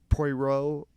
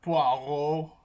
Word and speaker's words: Poirot: on like the whole Poirot, Yeah.